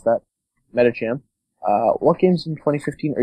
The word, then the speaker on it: Metacham: pronounce that. Metacham.